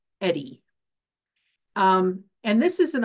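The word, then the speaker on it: EHDI: and Intervention Program the we acronym is is pronounced Eddie um and this is an opportunity for to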